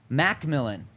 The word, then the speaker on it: McMillian: And then I asked him this past week, how do you say your last name? McMillian, even though it's just spelled MC.